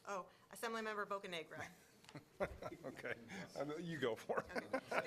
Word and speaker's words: Bocanegra: Oh, Assemblymember Bocanegra.